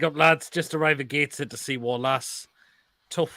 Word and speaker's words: Gateshead: It's not Gateshead, John. It's pronounced Gateshead.